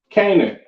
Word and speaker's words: Canaan: Next, we have Canaan.